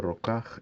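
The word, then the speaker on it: רקח: Dice, el término rokaj es mixtura en un sustantivo, y el acento melódico con el cual se lee se demuestra, puesto que está en la primera sílaba.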